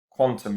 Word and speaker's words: Qtum: description all right guys q1 quantum is actually how it's pronounced but um so there's